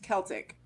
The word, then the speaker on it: Celtic: of the word was originally pronounced that like a hard C like kite and Kilt Celtic okay okay go ahead